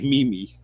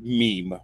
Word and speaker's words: meme: Every time I read it in a sentence, I say mimi. I did that for the first couple of years. I actually thought that's what it was. That's how it's spelled. Yeah, meme.